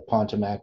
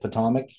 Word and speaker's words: Potomac: like the river river you mean the Potomac however you say it Potomac Atomic in Washington DC yeah that's how they say it eh yeah that's